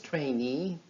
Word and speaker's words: trainee: as we learned earlier a stress falls on these suffixes so this sentence sounds like this the Vietnamese trainee volunteered to help the Lebanese and Chinese refugees the Vietnamese trainee volunteered to help the Lebanese and Chinese refugees talk about the rhythm of